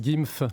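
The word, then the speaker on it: GIMV: euh la société d'investissement g i m V qu'on prononce gyf ça sera plus facile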